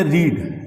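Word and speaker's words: read: परिवर्तन नहीं होता है अब अगला देखि दिया रीड रीड बहुत आसान होता है क्योंकि आसान इसलिए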